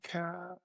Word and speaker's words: Kuehne: Sir, Captain Chris, how do you say your last name? K. Okay, K.